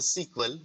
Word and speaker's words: SQL: Okay, so SQL, pronounced as a sequel for the simple English